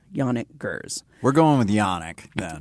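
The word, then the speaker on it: Janick Gers: And excuse me if I'm mispronouncing his name, but I'm pretty sure it's Yannik Gers.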